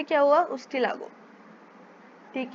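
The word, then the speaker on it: Ustilago: उसके बाद है उस्टिगो, उस्टियागो है एक्चुअली, उस्टियागो, उस्टिलागो, उस्टिलागो।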